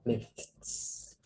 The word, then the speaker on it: myths: Rồi thêm S vô thì là âm sờ. Vậy đọc là myths.